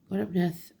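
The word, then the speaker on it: Gwyn ap Nudd: He may be known as Serenus, Hern, the Hunter, the Horned God, Master of the Hunt, or even Gwynupnod, pronounced Gwynupnod, King of the Fairies.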